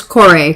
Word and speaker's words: Kore: I'm pretty sure it's actually supposed to be pronounced Corey It's Kore. Kore. or Corey. Yeah. One of the two. Yeah. Definitely not just Core. Core.